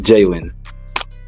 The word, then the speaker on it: Jalen: So it's pronounced Jalen. Jalen. Awesome.